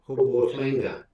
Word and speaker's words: hobotlinga: Wisdom, hobotlinga. Wisdom, hobotlinga. Wisdom, hobotlinga. So do you hear the thlee?